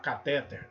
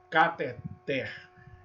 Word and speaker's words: cateter: Então, às vezes, a gente é pego pronunciando ou ouvindo alguém pronunciar catéter. Não, cateter.